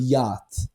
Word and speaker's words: yacht: this like English word yacht. It's YACHT, and it's pronounced as yacht.